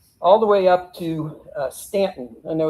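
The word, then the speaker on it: Staunton: After that, Early retreated all the way up to Stanton. I know it's spelled like Stuntton, but it's pronounced Stanton.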